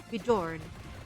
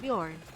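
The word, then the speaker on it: Björn: kid this guy and your name Bjorn but all your life your family has pronounced your name as beorn and now that you're older and the internet is here people now know it's supposedly pronounced Bjorn but you grew up all your life having it mispronounced as born do you just like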